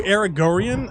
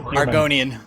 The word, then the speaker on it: Argonian: That's really to do Aragorian? I don't know how you pronounce it. Argonian.